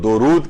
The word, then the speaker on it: درود: تو اصل جو اس کو تلفظ کیا جائے گا وہ درود کیا جائے گا، دال کے اوپر پیش ہے، دال کے اوپر زبر نہیں ہے.